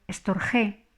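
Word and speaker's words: storgē: llamaban a este amor estor G dos sílabas y la g es fuerte aquí lo llamaré simplemente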